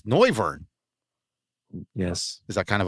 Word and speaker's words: Noivern: And I know how to pronounce his name now with Bird's help. It's Noivern.